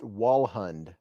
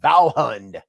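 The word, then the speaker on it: Vallhund: Alex said, or is it pronounced Walhund? I know it could be. It's spelled V-A-L-L-H-U-N-D. Valhund.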